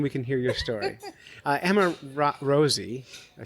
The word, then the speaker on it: Emma Rosi: Emma Rosie, did I say it right?